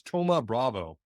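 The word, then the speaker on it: Thoma Bravo: right one example is Toma Bravo spelled like T looks like it's Thomas minus but Toma Bravo is is kind of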